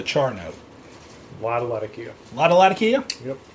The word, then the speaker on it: Latakia: Latakia? Latakia. It depends on where you want to put the accent on what syllable.